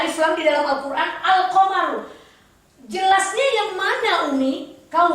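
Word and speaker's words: القمر: Huruf setelah alif lam harus jelas dibaca. Al-qamaru, nggak boleh ak-qamaru, nggak boleh. Al-nya harus jelas.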